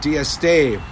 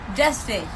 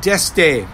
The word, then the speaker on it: Dieste: Our presenters include Brian Kane, Christian Day, Dorothy Morrison, Sarita Dieste. I said it wrong again? Again, you said it the same way you always say it. Deste. Sarita Deste. I'll get it right now.